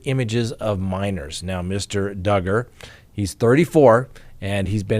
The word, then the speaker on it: Duggar: we have the josh duggar case rhymes with hugger that's how we all remember that it's not josh dugar that's right well guess